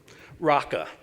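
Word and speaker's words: ῥακά: So the first one is this one, Raka. Now, I know it looks like Paka, but trust me, that's a row, okay?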